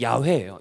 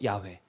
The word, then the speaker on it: 야훼: 엘로힘이에요 근데이 아도나이 엘로힘인데 원래 정확한 발음은 야외에요 야외 근데 이스라엘 백성들이 야훼라는